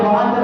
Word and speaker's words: বরাত: মুহতারাম মুসলিয়ান কিরাম, শবে বরাতের অর্থ কি? সব শব্দে এটি একটি ফার্সি শব্দ, এটার অর্থ হচ্ছে রাত। আর বরাত এটার বিশুদ্ধ উচ্চারণ হচ্ছে বারাত।